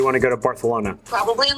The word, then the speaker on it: Barcelona: to fly to Barcelona do you mean Barcelona Barcelona it's how the locals say it actually um I should